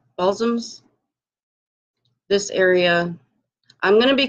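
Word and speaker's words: Balsams: have expanded this is um a thing is pronounced ball soms ball soms this area I'm gonna be careful how I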